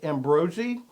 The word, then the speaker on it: Ambrogi: His name is Ambrogi. Did I get that close enough? Yeah, that's right. Okay, well, you know what? I realized in the 15 years that I've been acquainted with, I'd been pronouncing his name wrong.